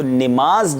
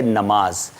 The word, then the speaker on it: نماز: تو نماز جو ہے یہ تلفظ درست نہیں ہے۔ صحیح تلفظ کیا ہے آئیے دیکھتے ہیں اسکرین پر۔ جی نماز کی بجائے صحیح لفظ ہے نماز.